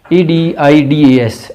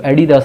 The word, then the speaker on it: Adidas: 18 ADIDAS, Adidas, जिसको एडिदास नहीं पढ़ना, Adidas जर्मन ब्रांड है।